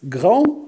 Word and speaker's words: grand: Regarde, il est anglais. On ne prononce pas S. Grand, on ne prononce pas D.